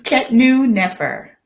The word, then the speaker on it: Khetnu Nefer: It's Khetnu Nefer.